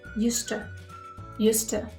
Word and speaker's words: used to: all persons in English be careful with the pronunciation we say used to I used to go